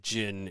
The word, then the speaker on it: Djinn: But then Jin is, and that's spelled Djinn.